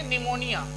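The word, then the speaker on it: pneumonia: है साइकोलॉजी मतलब मनोविज्ञान ऐसे यह प छूट जाएगा क्योंकि एन के पहले है तो एन के पहले प छूटता है यह चुप रहेगा साइलेंट हो जाएगा तो यहां से पढ़ेंगे निमोनिया एक बीमारी है निमोनिया तो निमोनिया इसमें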